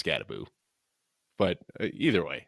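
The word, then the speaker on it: Skattebo: I'm going to have to Scatabo.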